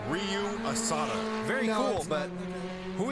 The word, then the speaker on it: Ryu: good fighter too now is it supposed to be Ryu or rayu oh no no no no don't call him rayu Ru was D pronounced Ryu but that's as close as I'm getting well that's good to